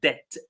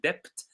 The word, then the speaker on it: debt: So debt the B e silent right debt. Uh as they said a lot of people mispronounce this word and they say depth uh because they pronounce the word the way